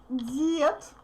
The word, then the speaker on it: дед: Дед. Дед. Now d becomes voiceless t because it's in the end.